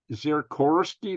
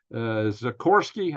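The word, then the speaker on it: Sikorski: Radek Zirkorski. No, it's not. It's almost like the helicopter, but it's not the helicopter name. It's Zikorsky, almost the same.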